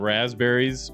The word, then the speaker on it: raspberries: And in this case, I like to call it raspberries cuz that's how you spell it. And I don't know why they put the P there. I really don't cuz nobody says it like that.